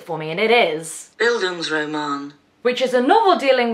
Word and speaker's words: Bildungsroman: google and i had to get it to pronounce it for me and it is buildings roman which is a novel dealing with one person's